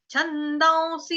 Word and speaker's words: छन्दांसि: जैसे कि मैंने बताया कि जहाँ पे आगे व से शुरू हो रहा होगा तो वहां पे अनुस्वार का उच्चारण आधा व ऊपर चंद्र बिंदु होगा। ये रूल है, ग्रामर के रूल है ये। छंदांसी, छंदांसी इस तरह से पढ़ेंगे।